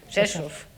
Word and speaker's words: Rzeszów: You spell it RZESZ with an O with an accent. Rzeszów.